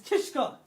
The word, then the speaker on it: Kishka: Broski, you gotta say my name right, fam. It's Kishka.